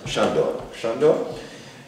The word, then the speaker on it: Sándor: Wie spricht man denn richtig aus? Sándor.